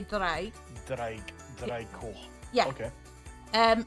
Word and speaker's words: draig: Because usually sometimes, Dreig. So, well, it's draig, so you'd say draig.